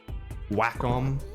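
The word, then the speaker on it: Wacom: And I've also got one of these whackom, that's how you say it.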